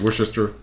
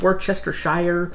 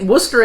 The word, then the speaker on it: Worcestershire: just short whisker all Americans butcher wore Chester Shire yeah try to pronounce every little thing and I think Worcester I think is the closest I can come to how it's supposed to be pronounced it may still not be 100 correct but that's as close as I'm getting it yeah no matter